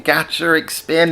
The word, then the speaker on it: GACHARIC SPIN: GACHARIC SPIN, it's like gacha machine.